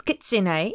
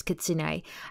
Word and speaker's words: kitsune: lover basically um yeah I just realized I'm pronouncing it wrong it's kitsune it's not how I was saying it before so it's kitsune now I want to mention although we don't